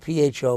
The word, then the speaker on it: pho: It's spelled P-H-O, but it's pronounced Pho.